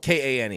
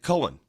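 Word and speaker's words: Koehn: people not pronounce it Cohen because in Germany OE is an a sound ah but there are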